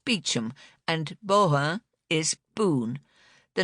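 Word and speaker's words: Beauchamp: The name Bon is pronounced bichum and boha is boon.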